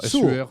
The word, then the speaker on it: Sur: Big Sur, comment on Non, dit Sur, SUR, ça s'écrit.